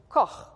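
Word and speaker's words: כֹּחַ: But this particular word we're looking at is koch. Koch. It's a hard thing to pronounce.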